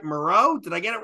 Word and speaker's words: Mureau: band I hope I'm gonna say it right Maro did I get it right yeah well allegedly